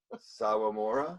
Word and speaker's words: Sawamura: Sawamura.